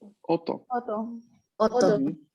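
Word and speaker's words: 夫: Hay que hacerle bastante énfasis en la pronunciación de la consonante doble, ¿no? Entonces, ¿por qué? Porque muchas palabras se van a confundir si es que no pronunciamos bien esta doble consonante.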